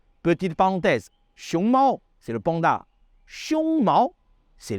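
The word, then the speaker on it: 熊猫: Le panda se dit xiongmao. D'ailleurs, on en a déjà parlé dans une leçon précédente sur l'importance de bien prononcer les tons en mandarin. Petite parenthèse, xiongmao, c'est le panda.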